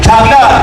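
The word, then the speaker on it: چھاگلہ: जवाब दुरुस्त है, थोड़ा सा उसका होता प्रोनाउंसिएशन में, छागला मशहूर है, अहमद गुलाम अली छागला, इन्होंने पाकिस्तान के कौमी तराने की धुन तरतीब दी।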